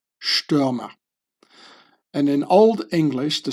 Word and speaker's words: Stürmer: The ST is like pronounced like sh, Stürmer.